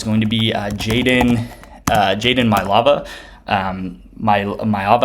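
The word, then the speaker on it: Maiava: Mailava, I think is how you say his name, and it's the USC quarterback.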